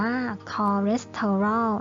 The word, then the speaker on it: คอเลสเตอรอล: สะ กด นะ คะ ถ้า เรา สังเกต นะ คะ จะ เห็น ว่า อะ คำ คำ แรก นะ คะ พยางค์ แรก เนี่ย cso ปกติ แล้ว เรา เรียน วิชา ภาษา อังกฤษ นะ คะ CS เนี่ย มัน จะ ออก เสียง เป็น ช้าง ใช่ ไหม แต่ ว่า คำ เนี้ย ไม่ ได้ อ่าน ไม่ ได้ อ่าน ออก เสียง เป็น ภาษา อังกฤษ ว่า ชอ นะ คะ ก็ คือ อาจสัน